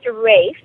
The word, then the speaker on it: Rafe: Now, there was a special dog in your life, and his name is spelled Ralph, but you pronounce it differently. It's pronounced Rafe.